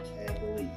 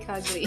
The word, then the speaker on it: Cagle: And for all you people in Southeast Asia, and especially the Philippines, it's pronounced Cagle, not Cagle. Okay, C-A-G-L-E, Cagle. They always call it kagli.